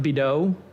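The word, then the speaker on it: Bidot: lil wayne's girlfriend denise i believe it's pronounced bido okay but it's b-i-d-o-t i don't know who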